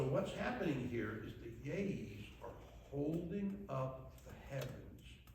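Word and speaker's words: Yé'ii: On the side here, you see 6 holy people, what they call yays. And we call them yays, but the Navajos, it's 2 syllables, it's yay.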